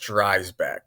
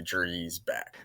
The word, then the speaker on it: Dreisbach: It's German, so like it's Dreback, but uh I mean it's pronounced Dback, but like we say Dreback now.